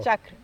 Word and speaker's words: chakra: Chakra.